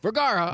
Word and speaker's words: Vergara: Vergara. I was Vergara. pretty darn close. I had all 3 syllables right except for the 1 syllable.